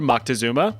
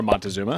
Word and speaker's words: Moctezuma: More specifically, history has suggested that the Aztec ruler Moctezuma, or Montezuma, however you want to pronounce it, believed that the arrival